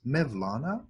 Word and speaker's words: Mevlana: to in the east the persians called him maulana the turks pronounce it as Mevlana same word the great